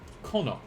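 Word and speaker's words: この: Kono. Kono. Meow meow. Kono. Kind of like what Riku says before she punches Titus. Kuno.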